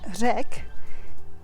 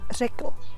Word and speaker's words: řekl: So řek, formally it's spelled řekl, řekl bych. We often omit the L because it's just shorter, řek bych.